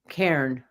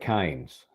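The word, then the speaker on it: Cairns: Sydney drove up to how do you pronounce c a i r NS how would you pronounce that could you spell that again c a i r NS Karen that's what I would think but Aussie land it's more like KES oh really okay yeah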